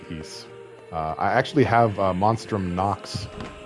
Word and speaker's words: Ys: If you enjoy games with good music, I suggest the East series. It was meant to compete against Final Fantasy, but on Sega. Well, by the mere fact that I pronounced it correctly, you might divine that I'm familiar with the series, and I do indeed quite like Ys.